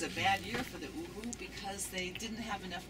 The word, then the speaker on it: Uhu: How do you spell it? U-H-U. U-H-U.